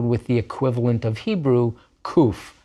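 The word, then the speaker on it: ק: Nowadays it's pronounced just like a letter K, just like a kaf with a dagesh.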